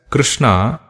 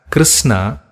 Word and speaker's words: Krishna: When it is pronounced correctly as Krishna, the sound flows from the throat towards upper head. And when you pronounce it as Krishna, the flow is deflected towards the teeth.